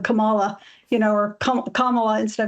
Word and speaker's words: Kamala: kind of racist thing if you say camela instead of Camala you know or Kamala